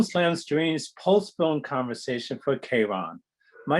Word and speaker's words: Charon: talk to Yannick for a moment, and the pronunciation in English is Charon, and there's a different pronunciation in French.